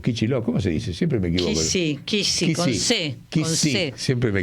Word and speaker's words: Kicillof: que se llama Axel Kicillof, o Kicillof, ¿cómo se dice? Siempre me equivoco. Kisi, con C.